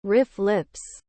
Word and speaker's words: RFLP: single nucleotide polymorphisms snps rflps sometimes pronounced riff lips are detected when the